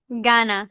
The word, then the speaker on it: gana: Let's see, which G is that? Gana. All right, hard G. Ga. Na.